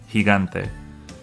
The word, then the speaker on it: gigante: The second G is the G sound, the G sound, because it's before an A. Gigante.